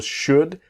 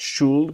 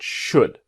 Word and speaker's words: should: i should do now remember should the l is silent not shulled but should what do you think